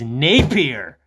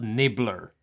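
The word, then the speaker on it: Nippier: because he's rich napier his name is spelled n-i-p-p-i-e-r and that is like the correct pronunciation of that is napier not nibbler so i don't understand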